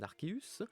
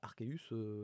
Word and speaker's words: Arceus: vous y transférez un Archéus, vous débloque. Alors Archeus, Arceus, c'est comme vous voulez, d'accord ? Je vais sûrement alterner ma prononciation au cours de la vidéo.